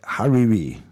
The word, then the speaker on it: Hariri: faction I see if I pronounce that right Hariri it's spelled h a r i r i Hari